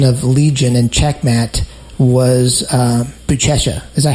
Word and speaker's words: Buchecha: Nashville, my perception of Legion and Checkmat was Buchecha. Is that how you pronounce his name?